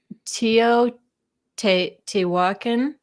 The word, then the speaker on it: Teotihuacan: Teotihuacan.